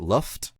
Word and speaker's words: Loft: do you say it, Luft? Luft. I know it's spelled loft, but it's Luft.